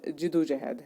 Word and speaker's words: جدوجہد: اونچا، عمل کام، جدوجہد، اس کا جو صحیح تلفظ ہے جدوجہد ہے۔ تلقین تعلیم ہدایت، بیداری